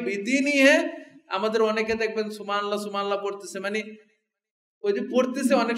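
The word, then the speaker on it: سبحان الله: না আবার আপনি যে সুবহানাল্লাহ সুবহানাল্লাহ বলতেছেন এটা না সুবহানাল্লাহ শেষে হা আছে ছোট এই হাটা উচ্চারণ করতে হবে সুবহানাল্লাহ সুবহানাল্লাহ বললে আল্লাহ পর্যন্ত হাটা তো হইলো না আল্লাহ কিন্তু না আল্লাহ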